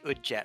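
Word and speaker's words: Udjat: I say Udjet eye. How do you pronounce the sarcophaguses that Qilin hatches out of?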